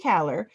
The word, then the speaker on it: Kahler: Yeah, it's not spelled the way it's pronounced, but it's Kahler, like Taylor with a K.